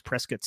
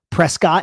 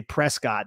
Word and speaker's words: Prescott: There's a town out here, Dan, called Prescott is what we would call it, but it's actually pronounced Prescott, and they are like very, very anal about that. Like if you were to go there and say Prescott, they would be like, actually, it's Prescott, and be all pretentious about it.